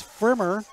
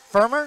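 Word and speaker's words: Pfrimmer: That's Frimmer. Firmer? Frimmer. Firmer. Frimmer. P-F-R. Frimmer. Firmer. Frimmer. Frimmer. No, the P is silent.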